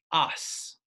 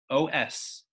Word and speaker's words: os: a new Latin word, os, O-S. I believe it might actually be pronounced os in the old Latin, but we are pronouncing it os in English.